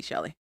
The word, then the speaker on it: Shilie: Looks like Shilie, but it's supposed to be Shelly.